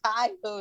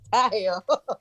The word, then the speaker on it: Taiyo: and he was like no it's not taiko it's taiyo yeah i know but